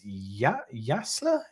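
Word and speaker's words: Jaissle: So it looks, apparently on The Athletic, they're saying Matthias Jassler is poised to take over.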